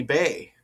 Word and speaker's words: Baye: Looks like Bay, huh? Uh Nath- Nathalie Bay is pronounced Nathalie Bay.